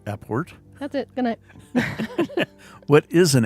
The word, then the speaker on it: apport: well so now we've talked about how to pronounce a port that's it what is an airport so i